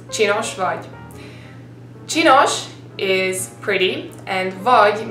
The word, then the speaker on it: csinos vagy: Well, C and S in Hungarian is technically one letter and you've got to pronounce it cs, just like you would say like in Cheerios, like cs. Try to say Cheerios and then based on that try to pronounce csinos vagy.